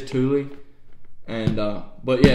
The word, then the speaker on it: Thule: I think it's actually pronounced Thule. So I apologize if I butchered that, but I think it is Thule.